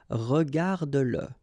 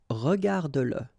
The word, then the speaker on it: regarde-le: the pronoun le, and if it comes after your verb, like in that case, then you will have to pronounce it. Okay, so regarde-le, regarde-le, all right, regarde-le.